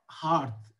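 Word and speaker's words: hearth: For them know more the blazing हार्थ shell burn, blazing मतलब जलता हुआ, हार्थ ये जो वर्ड है ना इसका उच्चारण है हार्थ, चूल्हा अब उनके लिए नहीं जलेगा, मतलब अब वो उनके लिए कोई खाना नहीं बनाएगा।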